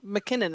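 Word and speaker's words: MacKinnon: But it's Mac, not Mick. It's pronounced McKinnon.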